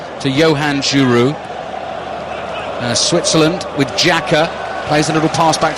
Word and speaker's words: Xhaka: I mean, it's a commentator's nightmare these days, but as many think it's Xhaka, it's actually Granit Xhaka, isn't it?